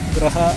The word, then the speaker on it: Graha: Graha Aruna. Wah, ini Gria Aruna. Kalian e nyebutnya apa sih? Gria atau Graha sih sebenarnya? Gria ya. Itu pengucapan sebenarnya.